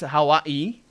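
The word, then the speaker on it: Hawaiʻi: The correct pronunciation of the state Hawaii is supposed. Oh, it's Hawaii. It's supposed to have a glottal stop at the apostrophe.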